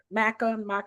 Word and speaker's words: maca: Maca, how do you say that, Tammy? Oh, I got some matcha powder, or maca. MACA. Okay, that's something different. It's the maca.